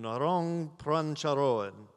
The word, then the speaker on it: Narong Prangcharoen: Naron Pranko. Cool name. Naron Prancharoan.